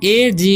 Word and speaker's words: एज: तो ए का उच्चारण तो ए ही हो जाएगा, क्योंकि ए अकेला रहता है तो उसका उच्चारण ए ही होता है या अ भी होता है। ठीक है। तो यहाँ पर ए का उच्चारण ए होगा और जी ई का ज और जी ई का ज। ठीक है। तो हम पढ़ेंगे एज।